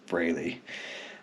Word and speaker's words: Frehley: And there's 3 different pronunciations that he's used to hearing, but he even says on there that it's Frehley.